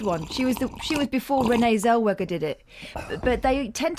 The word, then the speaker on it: Zellweger: She was before Renee Zellweger did it. But they tend to go posh, don't they? I pronounce the W as a V. Do you? Renee Zellweger. It's just me. Why don't you say Zellweger?